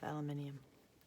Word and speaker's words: aluminium: went to say this with the uh british pronunciation of aluminium british pronunciation spelling obviously we spell it differently but i like aluminium